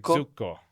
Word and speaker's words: Zucco: So I'm here with Jacoma Zuko. Is that the correct pronunciation? Jako. Jako is perfect. Zuko is a little bit more the the C is double. Zuko Zuko.